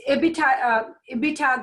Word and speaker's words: EBITDA: before interest tax depreciation and amortization so it's a bit a bit hog that's how they pronounce it earnings before interest tax did depreciation